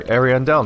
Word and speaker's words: Ariandel: Flame well that's convenient I immediately know that it's called AR arandel now I know I know the pronunciation immediately awful convenient so here's